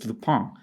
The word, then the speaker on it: Lupin: And most notably, recently, she worked on the Netflix show Lupin, or if you're French or want to pronounce it correctly, it's Lupin. It was great talking with